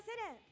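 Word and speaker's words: 世恋: 世界のせいに恋と書いてセレンと読みます。3 歳から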